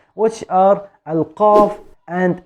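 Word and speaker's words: ق: two letters which are alkav and el cav actually the cough is deeper than the cat so we are using the cough with the deepest part of the tongue with the soft palate from the roof of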